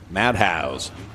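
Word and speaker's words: Madhaus: be a Madness no this is spelled differently m-a-d-h-a-u-s madhouse it's like a mad house only a lederhosen wow no no green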